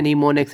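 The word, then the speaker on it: mnemonics: मैं आपको बता भी देता हूँ, बच्चे प्रोनाउंसिएशन इसकी गलत करते हैं। ये MNE मोनिक्स, लेकिन इसको आपने पढ़ना है नीमोनिक्स। एम जो है वो साकिन है, तो नीमोनिक्स है।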